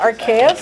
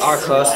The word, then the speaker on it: Arceus: Yeah, there's a lot of different pronunciations. Some people call it Arceus. Arceus. Arceus. Arcos.